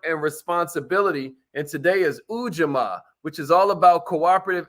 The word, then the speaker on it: ujamaa: which is cooperative economics cooperative economics ujamaa that's how you pronounce it ujma you know uh